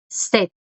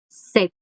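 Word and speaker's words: 셋: El número 3, set, set. No se pronuncia esa S de abajo, se pronuncia como una D.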